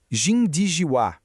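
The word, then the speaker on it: 井底之蛙: A pronúncia é algo como jinijiuá e significa literalmente o sapo no fundo do poço.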